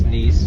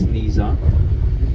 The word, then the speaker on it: Nice: So this is basically the city of Nice or Nisa, depending. In French it's Nice, in Italian it's Nisa.